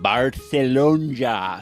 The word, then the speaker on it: Barcelona: I am coming to you live from Barcelona, Spain. Yeah, you you pronounced it right.